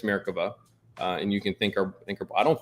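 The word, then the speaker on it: Merkava: came online and so that's how you say it by the way it's mericava and you can think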